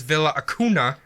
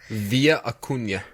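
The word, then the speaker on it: Villa Acuña: crossed the border was Villa hakuna via a Cunha is a via Cunha yes it's not Villa in Spanish it's an English shut up brinkley like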